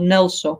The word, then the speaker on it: NgalSo: written like this the the name of our lineage is called nelso okay okay Nel so means relax or ease in tibetan yeah so there's two syllables Nell and so yeah so the Nell